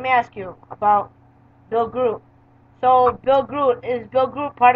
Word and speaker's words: Groot: No, that's not how he pronounces his name either. That's why I thought it was, too. Grody, right? Grody. Cool. Yeah, it's actually Groot.